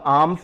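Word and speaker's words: alms: दे रहे हैं और एल यहां पर साइलेंट हो रहा है तो ये हुआ आर्म्स यानी खैरात या डैन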